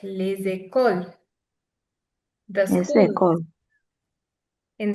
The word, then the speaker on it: les écoles: Les écoles.